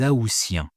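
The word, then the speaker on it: aoûtiens: Les aousiens. Les aousiens. Bizarre, non ? Bizarre parce que le mois d'août, on prononce le T, mais les AOiens, on prononce S.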